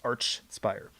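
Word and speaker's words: Archspire: the band say it it's arch spire with each sound not the k sound i say to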